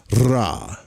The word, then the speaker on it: Ra: This mantra is not pronounced with a R, but with a RR. Like rolled, like RR. Like this, Ra.